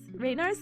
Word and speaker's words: Raynaud's: Raynaud's condition?